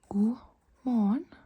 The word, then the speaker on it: god morgen: God morgen. God morgen. God morgen. God, the T is not pronounced.